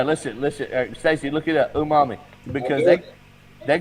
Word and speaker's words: umami: Umami.